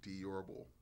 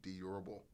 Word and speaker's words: Diourbel: justices and tonight we have with us durable last name pronounced D orbble but good try thank you thank you I